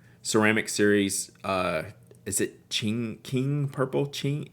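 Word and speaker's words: Qing: or platinum make ceramic series uh is it ching ching purple how do you say q-i-n-g so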